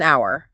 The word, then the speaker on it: hour: Like, take the phrase an hour. It starts with an h, which is a consonant on paper, right? But the h is silent.